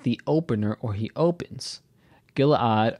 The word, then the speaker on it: Gilead: Gilead, or Gilead, as it's normally pronounced, is a region of Israel that is across the Jordan River.